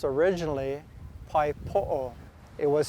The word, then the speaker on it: pae poʻo: originated here in waikiki and it was actually pronounced originally paipo it was spelled p-a-e-p-o-o pai means to catch